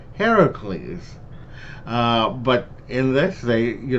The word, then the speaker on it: Heracles: in uh greek mythology his name is actually pronounced heracles but in this they you know said it